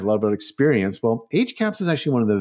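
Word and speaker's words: HCAHPS: ago introduced something called hospital caps and caps is spelt c-a-h-p-s and it's usually termed h-caps hospital caps so you most most people say h-caps so h-caps is like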